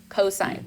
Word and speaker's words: cosine: a chalkboard for me it is sine is not cos Theta no cosine say it correctly sine cosine and tangent okay but